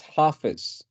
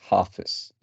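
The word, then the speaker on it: Hafiz: benefit to all concern H Baba so that's pronounced half is anyway that's uh like uh n pointed out and then I figured yes the right pronunciation is half is correct half is right yes yes so yeah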